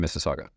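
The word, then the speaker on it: Mississauga: in Alberta and in Missaga. Wow. And you said it right. Not a lot of people get saga right.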